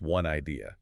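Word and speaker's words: 1 Idea: And just for the listener, that's spelled with the number 1, but pronounced One Idea.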